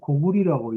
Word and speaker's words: 고구려: 제가 앞으로 얘기할 때 고구려를 계속 고구리라고 얘기를 할 겁니다. 원래 고구려 때는 나라 이름을 고구리라고 읽었습니다.